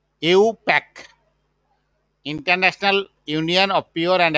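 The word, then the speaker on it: IUPAC: তারপরে তোমার আছে যে ইন্টারন্যাশনাল নামটা হলো, এটাকে আমরা সংক্ষেপে বলি, এটা উচ্চারণ করি ইউ, ইউ, ইউ প্যাক, international union of pure and applied chemistry, পুরো মিনিংটা।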